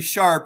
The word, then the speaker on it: Sharpe: again it's mike tremont your name is pronounced larry sharp you do not pronounce the e that's correct right absolutely